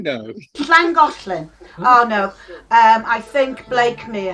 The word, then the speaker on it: Llangollen: The Llangollen. Ooh. Oh. That's very well pronounced. Not Llangollen. No. Llangollen.